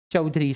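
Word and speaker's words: Chaudhuri: It's Hiralal चौधरी। सी एच ए यू डी एच यू आर आई। चौधरी इट्स नॉट ए आर वाई या ओ यू आर वाई जो वो चौधरी लोग लगाते हैं ये चौधरी है हीरालाल चौधरी बोलो याद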